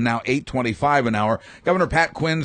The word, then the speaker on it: Pat Quinn: it's a Irish name no it's it's two one syllable hi I'm Pat Quinn Pat Quinn Pat Quinn okay Patrick